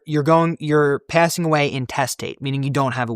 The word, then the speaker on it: intestate: Not to mention, you go through intestate, which is spelled the same way as interstate without the R. It's intestate. You go through intestate, trust